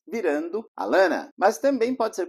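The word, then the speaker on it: Atlanta: dessa cidade por ela perde algumas vezes os dois Ts virando a Lana Mas também pode ser pronunciado at Lana próxima uma palavra que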